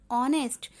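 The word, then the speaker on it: honest: ह से होता है, किंतु ह साइलेंट होता है और स्वर की ध्वनि से आरंभ होता है, जैसे एन ऑनेस्ट।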